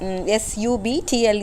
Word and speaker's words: subtle: here the word uh s u b tle e should be pronounced as subtle B is silent there it is unstressed so uh delicate or